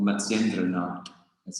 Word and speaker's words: Matsyendranatha: So Nata is like, it's a word, it's spelled N-A-T-H-A, which kind of means Lord.